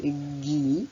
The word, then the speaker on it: gui: G-I se lira J. Si je veux que le G et le I chantent Gui, je serai obligée de rajouter un U derrière le G pour rétablir le son G.